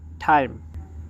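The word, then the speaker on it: time: টি আই এমই টাইম। প্রথমে আমরা যেই ট উচ্চারণ করতাম আমরা এখন টর জায়গাতে ঠ উচ্চারণ করব। তাহলে এখানে হচ্ছে টাইম।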